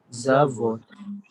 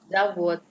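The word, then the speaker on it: завод: Zavod. Zavod sama di sini halnya, tulisannya D, tapi kita bacanya bukan zavod. Ya, bacanya zavod. Jadi V itu berubah menjadi F. Di pengucapan D berubah menjadi T.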